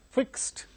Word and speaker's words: fixed: Now, fixed. Fix is the word which ends with the voiceless sound s other than t. Therefore, the past tense marker ed is pronounced as t, fixed.